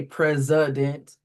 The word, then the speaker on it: president: we say president even though that sound in the middle is a is the is it even though that letter in the middle is an i, it's been given the h sound. Um that would be the unstressed syllable. And so pointing that out to students that even though that says the h sound, it's spelled with an i.